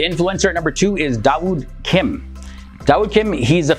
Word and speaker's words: Dawud: as well the influencer at number two is dawud kim dao kim he's a famous korean youtuber